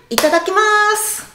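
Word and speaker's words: いただきます: si syllaves retenez surtout au niveau de la rythmique je dis assez rapidement les cinq premières syllaves et le dernier je fais un le dernier est mu donc ne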